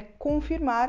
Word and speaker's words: confirm: E ela se fala confirm. Confirm. A gente tem muitos sons de vogal no inglês que não existem na língua portuguesa, no português brasileiro, e por isso é um desafio para a gente pronunciar essas vogais.